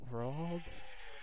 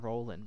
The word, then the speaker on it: Roald: Roald? I keep saying Roland, but I know that's wrong. It's R-O-A-L-D.